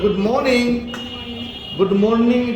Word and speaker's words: good morning: বলবো কি গুড মর্নিং কিন্তু আরের পূর্বে একটি ভাওয়েল আছে এই জন্য আরটি অনেক সময় সাইলেন্ট হয়ে যায় এখানে আরটি সাইলেন্ট হয়ে যাবে বলো গুড মর্নিং কে বলবো আমরা গুড